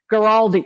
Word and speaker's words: Guaraldi: Guaraldi.